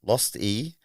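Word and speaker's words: Losti: Her artist name is Losty, L-O-S-T-I-I, pronounced Lost-E.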